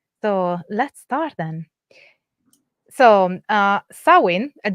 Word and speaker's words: Samhain: So Samhain - this is, by the way, the Modern Irish pronunciation is not clear what the the the old Irish pronunciation would be and this is from